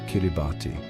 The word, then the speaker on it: Kiribati: The pronunciation with the S sound for T became an integral part